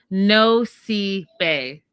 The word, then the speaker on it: Nosy Be: Oh, is it Nosy B? No. Okay, I wrote it down phonetically. No sea bay. No bay. I got it right.